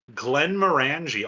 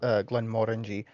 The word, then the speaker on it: Glenmorangie: No, Glenmorangie also has a Oh, Caribbean cask.